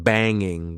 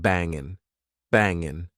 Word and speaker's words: banging: Did you notice that when I'm trying to be extra informal, instead of saying banging with the eing sound at the end, I said bangin', bangin'.